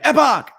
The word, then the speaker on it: Epoch: she got it right every time i said it wrong she was like epoch eva because she didn't want me to say the poll wrong you know right of course of course epic epoch so the uh